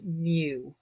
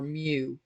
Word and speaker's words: mu: it this is pronounced mu or mu or if you know pokemon like mewtwo it's a greek letter